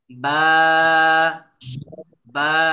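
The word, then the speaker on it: ب: এটা ইনশাল্লাহ শিখবো তাহলে এই বা টা কিভাবে উচ্চারণ হবে সবাই খেয়াল করেন বা বা টান দেওয়া যাবে না একদম টানতে টানতে বেশি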